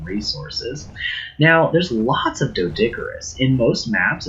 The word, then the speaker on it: Deinonychus: how to tame a Deinonychus. I always called them Deinonychus when I was a kid, but apparently the actual pronunciation is Deinonychus.